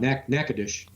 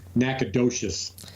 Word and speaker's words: Natchitoches: Natchitoches. I think I said the story on an episode about pronouncing it Nacogdoches because I asked Siri how to pronounce it, and she was all fucked up.